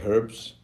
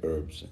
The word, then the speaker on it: herb: doesn't really different because British say herbs and Americans say herbs they feel like the edge is silent should we started are